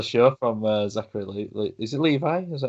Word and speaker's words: Levi: Yeah, he kind of stole the show from Zachary Is it Levi? Is that how you pronounce it? Yeah, that's how I pronounce it. I've heard it pronounced Levy, but I think it is Levi.